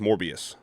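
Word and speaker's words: Morbius: Also, it's pronounced MorbiiUs.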